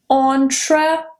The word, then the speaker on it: entrepreneur: And the last one, probably the most commonly confused and mispronounced one, is entrepreneur. Entrepreneur.